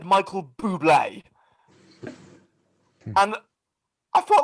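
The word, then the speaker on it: Bublé: i said michael bubble do you mean michael michael buble oh oh is that is that how it's pronounced yeah why do you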